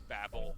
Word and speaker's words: Babel: i'm gonna stay here that is babylon that's how you spell it yeah i know but his name is babel it's like she it's